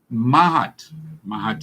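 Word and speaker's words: Maat: To the ancient black people of the Nile Valley, Mahat is spelled M-A-A-T, Mahat was the highest ethical commitment.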